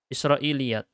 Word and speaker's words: Israiliyyat: *Israiliyat*. Begitulah cara membacanya ; Saya sudah menuliskannya.